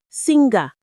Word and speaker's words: singer: Look at the word singer. There is no hard G sound in it. It's simply singer.